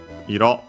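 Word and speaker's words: 色: But yeah, here we see it on its own, and yeah, iro, accent on the last syllable, means color.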